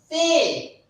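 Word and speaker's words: Fau: And this is called as Fe. Fe. Fe. So here it is O. For you, we pronounce O, and for this letter, we pronounce Fe.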